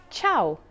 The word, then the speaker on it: ciao: k sound but why one rule to remember is that c followed by e or i makes it a soft c h sound for example chao meaning hello chenna meaning